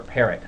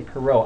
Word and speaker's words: Parrot: perau let me or parrot I always say perau I don't know why but is actual the way to say his name is Parrot uh Kevin Parrot uh